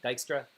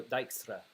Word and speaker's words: Dijkstra: So I do have stuff on how do you say Dijkstra. I think that's how you pronounce his name, Dijkstra. Um, So Dijkstra, I think that's how you pronounce it.